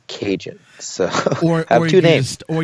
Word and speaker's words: Kajan: the name stuck so now if I want to keep ragin I have to keep Cajun so for every taste